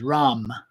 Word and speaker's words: Ram: The sound, the seed syllable that we'll be using in our meditation is Ram, R-A-M.